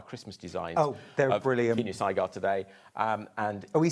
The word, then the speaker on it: Kinusaiga: Kinusaiga today.